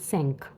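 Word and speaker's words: cinq: आई है फाइव की फाइव को हम फ्रेंच में कहते हैं सिंक जिसकी स्पेलिंग होती है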